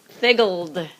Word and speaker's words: figgled: So now let's pronounce that. Aiden. Figgled.